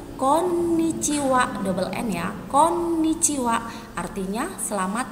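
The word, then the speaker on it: こんにちは: itu sama yaitu Konnichiwa perhatikan disini ada huruf double N jadi penekanan pelafalannya harus jelas Konnichiwa double lainnya Konnichiwa artinya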